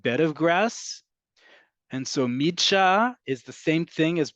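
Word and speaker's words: מדרש: You can pronounce it and you'd be absolutely correct. It's midsha. It's a little hard to pronounce because it's a couple letters that don't cooperate in the way that we'd like to think in other languages, but it's midsha.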